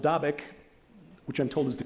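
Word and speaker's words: Dabiq: at either a town in northern Syria called davic which I'm told is the correct pronunciation topic or at the amuck valley in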